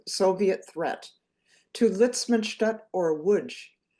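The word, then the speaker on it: Łódź: threat to Litzman or Woodge. Now woodj I am pronouncing that correctly but you might see it's spelled L O DZ and in wood my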